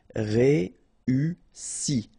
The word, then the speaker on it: réussi: Okay, first you get this E, then U, and double S, so really strong S and E. Réussi.